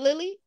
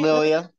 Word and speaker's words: Lilia: Is it Lily? Did I say it right? Lilia. Lilia.